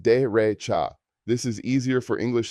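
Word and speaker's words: derecha: Right is dcha pronounced de recha.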